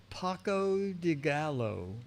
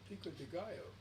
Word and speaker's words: pico de gallo: Paco de Gallo. Oh, Pico de Gallo. Pica de Gallo. Pico Right. de Gallo. Pica de Gallo. You don't pronounce the O, it's like a Y.